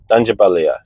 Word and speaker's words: Tangier: Guys, they're moving to Tangier. That's how you say it.